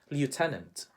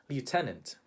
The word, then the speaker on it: lieutenant: In the Philippines, we would say lieutenant. Lieutenant. He was promoted to the rank of lieutenant.